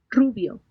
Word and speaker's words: rubio: rubio, The R is pronounced differently.